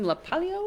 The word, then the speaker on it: LaPalio: Tony how do you say your last name laalo laalo laalo Tony laalo he came to try